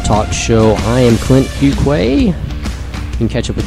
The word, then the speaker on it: Fuqua: personal Healthcare reform talk show I am Clint cuay you can catch up with me on Clint